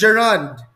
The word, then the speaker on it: gerund: While it's not yet too late, it's the word is really pronounced as gerund. So the stress is on the first syllable.